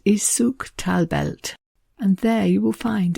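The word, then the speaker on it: Suq tal-Belt: You might find it marked on the map with its Arabic name, which I think is pronounced Souk Talbelt.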